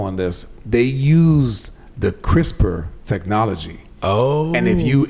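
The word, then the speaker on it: CRISPR: reading the article on this, they used the crisper technology. Oh. And if you and and when I saw that and crisper is spelled C R I S P R.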